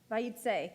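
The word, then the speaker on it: Vayetze: Vayitse.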